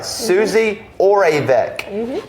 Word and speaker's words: Suzi Oravec: Suzi Oravec.